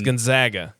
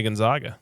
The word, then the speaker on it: Gonzaga: I need I'm going to need help pronouncing that one. That's Gonzaga. Gonzaga. Yeah. Okay, that's good. I would have said Gonzaga. You can also say Gonzaga.